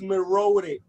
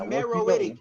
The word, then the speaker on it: Meroitic: The civilization was called Mero, so it's Meroic. It's Meroic. It's Meroic. It's Meroic. It's Meroic. We can do it right. Pronunciation. You're about to beat this nigga. Hey, look. Hey, X. You're Black Junior. It's Meroitic.